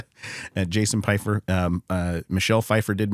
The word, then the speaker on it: Piefer: That's p i e like apple pie. F e r like southern fur. Jason Pyer.